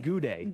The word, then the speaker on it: Gaudet: Gaudet. Race 4. What did they say you were supposed to be? Your last name was supposed to be pronounced? Goudet. Goudet. When you're down in New Orleans.